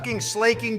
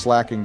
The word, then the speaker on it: Slaking: his slaking destroyed me. I still have PTSD from that slaking. It's pronounced slacking Donald, but yeah, it was a difficult battle.